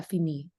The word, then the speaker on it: finir: J'ai des trucs à finir. Et ici, Fini. finir. Oh, oui. Finir. Donc, le R, on le prononce. La R la pronunciamos al final. ¿La pronunciamos o no? La R sí, casi siempre sí.